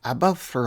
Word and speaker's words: Aberffraw: pronunciation of that word in Welsh it's something closer to above for all apologies to any